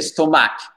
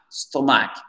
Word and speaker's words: stomach: Certains d'entre vous avez fait stomach. Stomach. Vous avez mis l'accent tonique sur la deuxième syllabe. Non, c'est stomach.